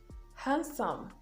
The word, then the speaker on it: handsome: d is absolutely silent it's also silent in handsome handsome notice i'm saying handsome